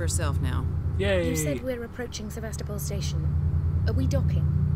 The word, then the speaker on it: Sevastopol: we're up Sebastopol that's how we're supposed to pronounce it Sebastopol cornflakes bran flakes porridge oats do I not